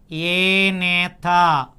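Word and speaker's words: Agnatha: Now as we observe the evolution of vertebrates, the first one we call it as prevertebrate and it is followed by Anatha. While pronouncing the A is silent.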